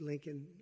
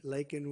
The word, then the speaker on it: Laken: 22y old nursing student Laken Riley you know Laken very well now and after months of prodding him Biden couldn't pronounce her name he said uh he said Lincoln Lincoln Riley and Lincoln rile is